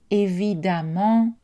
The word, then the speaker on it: évidemment: exceptions essentiels à savoir la lettre e et prononcé à dans le mot femme et dans les adverbes à main em ent par exemple évidemment patiemment au n est prononcée choix